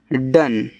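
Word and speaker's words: done: Love D ओ एन ई डन।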